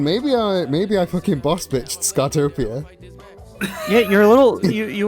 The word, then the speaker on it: Skatopia: I'm aware it's pronounced. I'm aware it's Skatopia.